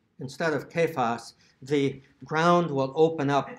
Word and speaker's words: Cephas: church, if you say Cephas instead of Kephas, the ground will open up under you and you will be swallowed up. It really needs to be pronounced correctly with a hard C, even if, and I